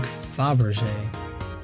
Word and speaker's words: Fabergé: It's pronounced more like Fabergé.